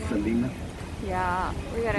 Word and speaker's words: Selena: The Selena Bridge, sometimes people pronounce it the Selena, but it's pronounced Selena.